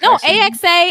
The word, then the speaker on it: AXA: next thing I know I got hired at ax advisors okay so oh I said a I didn't pronounce it right what was it AXA AXA you it's all good it's all good